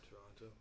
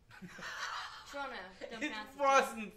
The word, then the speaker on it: Toronto: Um the apps look great even though it was probably filmed in Toronto. Toronto. Toronto. off. Don't pronounce the T.